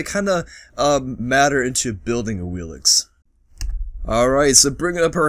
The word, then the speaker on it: Awilix: Today we have the very much so requested Awilix, or better pronounced as Awilix.